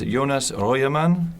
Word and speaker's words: Jonas Röjerman: My guest today is Jonas Röjerman, Master of Wine.